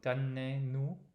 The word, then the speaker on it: donnez-nous: So here, and I don't remember why exactly, the consonant actually does come backwards and closes the syllable. So there's a different sound for what's otherwise letter O. It does not sound like letter O. Da, donne, donne. So donnez-nous.